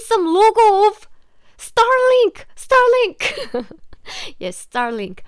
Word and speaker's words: Starlink: Starlink in Korean pronunciation, because we don't have this R sound, so we often ignore it if this R is used at the end of a word, end of the syllable. Like star is just sta in Korean.